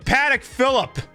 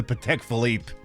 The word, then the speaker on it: Patek Philippe: There's oh god, that's my boy Paddock Phillip. Oh, that's another place you could spend 6 figures on a fucking wristwatch, the Patek Philippe.